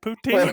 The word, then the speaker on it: poutine: at the Prohibition Pig Restaurant, get yourself some poutine. Is that the right pronunciation? Yeah, that's it, poutine.